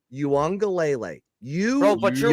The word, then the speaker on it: Uiagalelei: It's I don't- DJ I'm not a college football Uiagalelei. guy. Not you. I'm I'm talking not a about college people football that guy. are college It's football DJ guys. Ukulele. Okay. No, it's Uiagalelei.